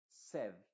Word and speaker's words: said: En esta palabra que está en pasado se diría said, con una E.